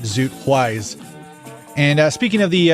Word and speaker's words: Ys: For the longest time, I thought it was called wise cuz it's spelled y apostrophe s. And I might just still call it that. Makes sense, right? Why apolog It's wise, not East. Come on.